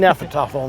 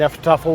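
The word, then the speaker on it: Hnefatafl: He's teaching Nefertafel now. The H is silent. Mm-hmm. Nefertafel was played from 400 BC to 1000 AD, and in 1000 AD, chess came into being.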